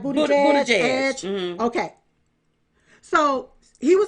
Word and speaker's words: Buttigieg: Booty Edge.